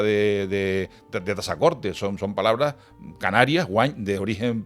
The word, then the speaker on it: Tazacorte: distinga casa de caza, cuando pronuncias la palabra Yaiza o la palabra Tazacorte o el sustantivo Nausé o otros nombres canarios, pronúncialos con S, por favor, que es como se dan de pronunciar.